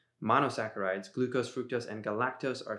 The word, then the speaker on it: monosaccharides: literature see for yourself monosaccharides or sassarites i never know if it's a hard c or a soft c